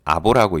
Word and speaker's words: ABO: 표시할 때는 영어로 ABO라고 표시를 하지만 실제로 읽을 때는 아보라고 읽습니다.